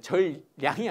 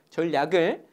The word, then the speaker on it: 전략: 그리고 전략, 우리 발음을 잘해야 돼. 전량이 아니고 전략을 그 계획표를 짜고 이런 것들 우리 연구원들이 도와주기 때문에 같이 대화하면서 한번 멋지게 한번 짜봅시다.